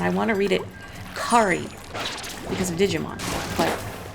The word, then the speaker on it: Kari: I had one customer years ago that spelled it K-A-R-I and pronounced it Kari, and she's like, finally, somebody got it right. Everyone calls me Carrie and not Kari.